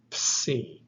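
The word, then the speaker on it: ψι: And this is a combination of P and S. Ps. The name of this letter is Psi.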